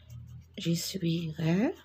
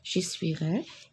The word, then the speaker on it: j'essuierai: J'essuierai. Je ne prononce pas le E, pardon. J'essuierai.